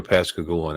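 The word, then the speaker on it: Pascagoula: pasag gou I'm G have to go to pasag goua now I think once I'm able to spell it P a s c a g o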